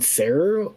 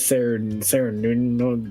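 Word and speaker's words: Cernunnos: I have been saying that name wrong the entire time because I've been saying Sarah instead of Sarah Nuno, blah blah whatever.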